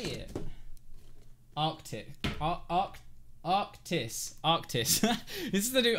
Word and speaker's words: Arctis: the 800 right now this is the new Arctic Arc how do you say it Arctic AR arctis arctis this is the new arctis it is